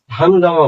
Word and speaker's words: হাঙ্গামা: যেমন এই হাঙ্গামা, হাঙ্গামা বলি না আমরা, হাঙ্গামা বলি। হাঙ্গামা গয়ের উচ্চারণ হয়, তাই হাঙ্গামাই।